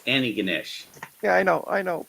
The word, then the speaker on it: Antigonish: used to call it antigonous no it's you don't pronounce the first te it's anig Ganesh yeah I know I